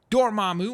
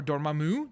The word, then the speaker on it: Dormammu: Voodoo, Dormammu, or Dormammu, depending on how you pronounce it.